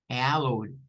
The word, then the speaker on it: hallowed: Vendría siendo como el sonido AU, ¿verdad? El sonido A, y luego O. Hallowed, hallowed. En esta pronunciación, digamos que se toma la H, la A y la L. Estas primeras, y pues se pronuncian acá. Luego la O y la W se unen a la D como una segunda sílaba, haciendo de cuenta caso como que esta no existiera, como que la I no estuviera.